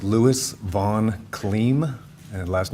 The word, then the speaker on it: Kliem: Could you please state your name and spell it for the record? Sure. It's Lewis von Clem and last name is K L I E M.